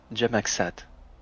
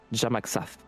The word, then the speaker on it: Jamaxas: qu'elle s'appelait Floline Jamaxat. Waouh. Putain, tu prononces bien. C'est presque ça. Ça se prononce Jamaxas.